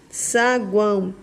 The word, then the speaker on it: saguão: três vogais juntas saguão saguão semivogal vogal e semivogal embora o o tem a som de u né saguão termina em Ó mas tem som de u é isso é tritongo o